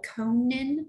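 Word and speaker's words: Elkonin: Maybe you, and this is where I say, I didn't use this in the classroom, but I did use something called Conan, that's how you say it, Conan Boxes.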